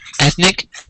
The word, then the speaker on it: ethnic: This word is ethnic. It's an adjective of an ethnic of a racial group. How many syllables? I think it's 2. And where's the stress? Ethnic. The first syllable.